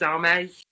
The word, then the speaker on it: Airmed: Your pronunciation is a little different to the one I'd heard before, which is Airmed, which maybe because but then it's Gaelic, and it's Gaelic, Irish Gaelic and Scottish Gaelic differ very much.